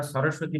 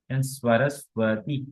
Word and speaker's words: সরস্বতী: প্রথম দন্তের সাথে বয় হচ্ছে না, পরে দন্তের সাথে ব হচ্ছে।